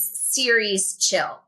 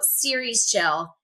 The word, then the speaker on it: Ceres Chill: So, the name the way I pronounce it is series chill. Like a Netflix series, but it's spelled C as in cat E R E S and then separate chill. So, series chill.